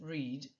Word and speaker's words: read: Le verbe read, attention, il s'écrit read, il se prononce au prétérit read, mais vous notez bien qu'il y a la même forme, il s'écrit de la même façon, mais il se prononce différemment.